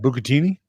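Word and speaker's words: bucatini: How do you actually pronounce that? It's what? Bukatini.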